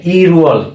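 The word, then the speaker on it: 일월: উচ্চারণ হবে, যেহেতু এখানে বাসিমের পরে কি আছে, স্বরবর্ণ আছে, তাহলে এই বাসিমটা উপরে চলে যাবে। কি হবে? হ্যাঁ, ই রু অল। হ্যাঁ, কি হবে? ই রুয়াল।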